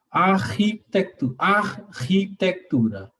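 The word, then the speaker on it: архитектура: Prononce ça doucement, s'il te plaît. Architecture. Non, prononce ça séparé. Le H qui est très fortement inspiré. Architectura.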